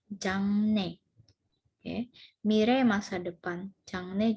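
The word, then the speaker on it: 장래: Ini bacanya jangne.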